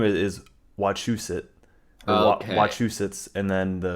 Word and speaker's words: Wachusett: and then we probably got correct, and it's Wachusets, not Fuck watch a these set.